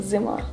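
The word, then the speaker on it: зима: Zima.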